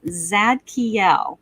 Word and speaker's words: Zadkiel: so this week's guardian angel i'm going to spell it for everybody too but it's zadkiel it's z a d k i e l